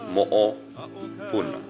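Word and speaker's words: moʻopuna: Moopuna, pronounced moopuna.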